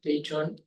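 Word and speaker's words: Daejeon: He comes from the Korean Astrophysics Science Institute in Daejon, it's pronounced Daejon, near Seoul.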